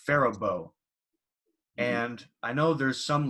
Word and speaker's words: Faribault: it's spelled f-a-r-i-b-a-u-l-t so it's spelled like we would pronounce it pharah ball but that's not what's pronounced it's pronounced farabo and i know there's